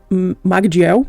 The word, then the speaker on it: Magdiel: Mas então, ele é traduzido pelo Lucas Magdiel, ou Madiel, eu acho que esse G não se pronuncia, e ele vai falar